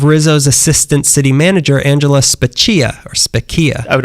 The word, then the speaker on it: Spaccia: Then they saw the salary of Rizzo's assistant city manager, Angela Spaccia, or Spaccia. I would overpronounce it. Spaccia.